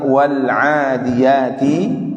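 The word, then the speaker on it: والعاديات: Jadi membacanya itu harus dilepas ya. Dilepas bukan dipantulkan. Tadi ada satu atau dua orang yang memantulkan bacaan sehingga terbaca wal ya, wal. Ini enggak boleh, lepas ya, lepas saja, tinggal dibaca wal ya.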